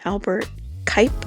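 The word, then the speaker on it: Albert Cuyp: the center of the city, starting at the Albert Kuip, I think is the pronunciation of that name, market.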